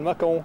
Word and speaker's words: machaon: C'est le macaon, ça s'appelle. Macaon, ça s'écrit machaon.